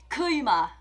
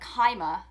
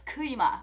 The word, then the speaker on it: Kuima: like if your name is kuima okay for example i'm not going to be like kaima no it's kuima okay just out of